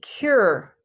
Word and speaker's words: cure: only one um so if it's only one syllable it will always be stressed okay um next one repeat after me cure is that hard to say yeah cures it